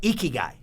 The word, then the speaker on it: ikigai: passionate about digging ditches so i call it ikigai and and we have to give you the spelling but it's like i-k-i-g-a-i but it's pronounced ikigai it's a japanese meaning for uh